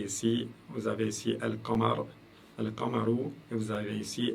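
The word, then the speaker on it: القمر: Alors, si vous écoutez, si vous faites attention à la manière dont je prononce les choses, j'ai dit Al-Qamaru. Al-Qamaru. Donc, le lam ici s'entend très très bien.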